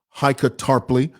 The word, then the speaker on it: Heike Tarpley: This is how you say her name, Heike Tarpley.